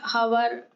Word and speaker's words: hour: It will be noticed that the words hour, honest begin with a vowel sound as the initial consonant H is not pronounced.